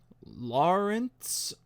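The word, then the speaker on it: Laurents: Lawrence. It's spelled Lauren with a TS on the end. And when you say it, it sounds like Lawrence.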